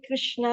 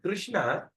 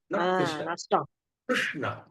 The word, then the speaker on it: Krishna: okay okay your Rama part is okay but Krishna kishna Ah that's I went wrna not not wrong